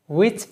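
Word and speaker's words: which: ঠিক আছে, ওয়াই যে কারণে, হাউ যেভাবে, হোম যাকে, হো যে, উইচ যেটি, হুইচ না, উইচ যেটি, হাউস যারটি, হাউ মেনি যতগুলো, হাউ মাছ যতটুকু।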